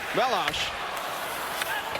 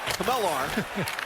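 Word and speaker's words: Chmelař: He said, well, Back home in Czechia, we say Melas. Here in the U.S., you could say Kamelar.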